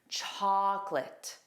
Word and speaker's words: chocolate: There are two sounds. Repeat after me. Chocolate. And the syllable stress is on the first sound. Chocolate. So that last sound is fast.